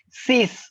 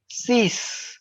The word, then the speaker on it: six: cap sang c c we do not pronounce x here so it the pronunciation is sis something like let me just write sees got it sees now